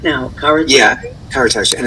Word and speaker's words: Karatas: It's no one can get it right because it's pronounced Karatas, but there's no H at the end. Well, I'm going to say it right now, Karatas. Yeah, Karatas, and it's a Turkish